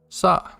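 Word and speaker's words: そ: like a sign and it's pronounced like so nice again in the saw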